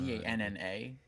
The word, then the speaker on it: Vanna: V-A-N-N-A, it's Vanna.